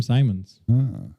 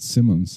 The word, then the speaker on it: Simons: a big one Jim Simons I pronounce it Simmons I still don't know I did my research some people call him Simon some people call him Simons all right let's be